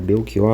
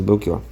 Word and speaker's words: Belchior: Eu gosto muito das canções do Belkior. Eh, esse Belki, ele se escreve com ch. Então, lá para eles, eh, os portugueses, eh, deveria estar escrito com K, né?